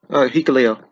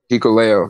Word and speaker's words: Hikuleo: I don't know how to pronounce his name. You do, Berman? Yeah. Hikuleo. Hikuleo, okay.